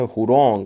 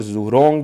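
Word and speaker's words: Zhurong: हुरोंग, और जुरोंग भी आप कह सकते हो, लेकिन जेड इज साइलेंट, तो इसको हुरोंग कहा जाता है।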